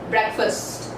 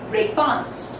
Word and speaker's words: breakfast: When these two words get combined and form a compound word, so the pronunciation kind of becomes breakfast and not as breakfast.